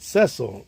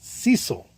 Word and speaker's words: Cecil: He's not Cecil like Cecil Fielder. He pronounced it Cecil.